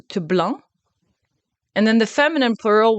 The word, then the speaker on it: blanc: So for white, you have blanc. Blanc. So be careful, don't say blanc. It's not blanc, you don't pronounce the C. Blanc.